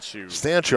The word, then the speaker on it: Stanchu: Finally got a pronunciation on her last name. Stanchu, and I got it from her mom, too, so I know it's right.